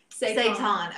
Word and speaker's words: seitan: do you pronounce that is it is it say time Amanda said with the kind of protein I am seitan okay okay Tracy says my daughter says hi